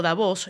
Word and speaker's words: Davos: preguntan por qué digo davos la la pronunciación real es davos con tild después se hispan y